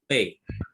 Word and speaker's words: Pe: Now, each one of you pronounce this letter. Beth, Beth, Mem, Mem, Pe.